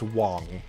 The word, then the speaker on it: Wang: It's not Wang. It's It's Wong. But I'm not going to There's no way I'm going to be able to like actually pronounce him as Wong.